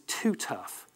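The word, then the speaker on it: TuTuf: A trade name for it is Too Tough. And unfortunately, that's spelled T-U-T-U-F.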